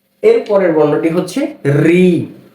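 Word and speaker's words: ঋ: এর পরের বর্ণটি হচ্ছে রি, রি, রি। এই বর্ণটাকে অনেকে বলে লি, লি বলা যাবে? এই বর্ণটার সঠিক উচ্চারণ হচ্ছে রি, রি, কি রি।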